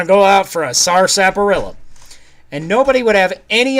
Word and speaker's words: sarsaparilla: yes they call it sarsaparilla which is actually written s-a-r-s-a-p-a-r-i-l-l-a so if you actually pronounced it as it is written it would be sarsaparilla not sarsaparilla that is a weird